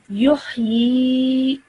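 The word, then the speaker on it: يحيي: Okay, because it is found underneath a letter, it will be vertical kasra. Okay, so I would read normally this as yuhyi.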